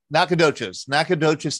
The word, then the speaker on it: Nacogdoches: Austin State University in, I'm going to mispronounce it, Nacogdoches, Texas. Close enough. Close enough. Pretty close, like something you want to eat a plate of.